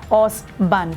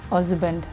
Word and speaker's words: husband: you we are not she's pronouncing it us band pronounce the h husband where is your Z